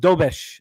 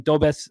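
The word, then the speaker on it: Dobeš: Uh, pronounced Dobesh. Sorry, I was calling Dobz. Uh, Dobish.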